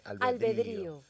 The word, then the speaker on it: albedrío: todos somos unos malab con acento en la i albedrío la tilde Oye qué bella palabra